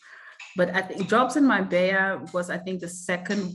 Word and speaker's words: Marbella: Oh, that's how you pronounce it. Jobs in Marbella.